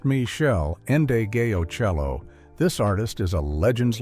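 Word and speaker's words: Meshell Ndegeocello: Michelle Andio Cello, pronounced Michelle Endeo Cello.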